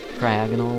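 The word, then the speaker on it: Cryogonal: Cryagonal, like diagonal, even though it has nothing to do with being diagonal.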